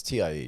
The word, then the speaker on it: TiE: Is Mike pronouncing this right? It's TIE, yeah?